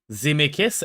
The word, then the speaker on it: Zemeckis: Zemeckis, emphasis on me. Pronounced meh.